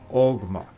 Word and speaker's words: Ogma: Now in myth it was invented by the god Oma, but in Old Gaelic pronounced Ogma, who was its father, while the chisel used for the inscription was its mother.